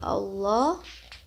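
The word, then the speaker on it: الله: ull Ini benar ya alif lam jalalah wajib dibaca tafkhim kalau yang tafkhim itu ketika lafaz Allah sebelumnya itu ada baris fathah atau domah ketika lafaz Allah sebelumnya ada kasrah itu menjadi tarkik ya dibacanya tipis kalau lafaz Allah setelah fathah atau dah dibaca ee tebal atau tafkhim alasannya di sini lafad jalalah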